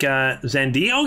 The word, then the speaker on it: Xande: Oh, you say it like Xande?